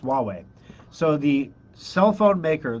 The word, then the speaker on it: Huawei: as being socially insensitive weh-weh huawei Huawei that's right it's pronounced Huawei so the cell phone